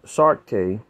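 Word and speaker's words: Saartjie: The most infamous medicalized display of a captive black befell Sirache, pronounced Sarke, and meaning Little Sarah in Afrikaans.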